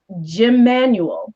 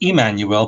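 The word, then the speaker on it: Jmmanuel: And other chapters, ancient Greece, the Khazar Empire, Jim Manuel. What is Jim Manuel? No, it's Emmanuel, but spelled with the J.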